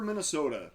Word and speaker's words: Minnesota: Would you pronounce that? Le Sueur. Le Sueur, okay. Le Sueur, Minnesota, 1955.